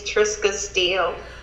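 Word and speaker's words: Trisca Steele: say the name correctly because i'm prone to mispronounced names what is your name young lady my name is triska steele hello miss triska scale how are you doing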